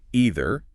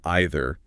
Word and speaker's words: either: And the video also points out either can be pronounced two ways. Either or either, both totally fine. Exactly. And what's cool is both pronunciations are used in different English-speaking regions, but they're both understood everywhere. Got it.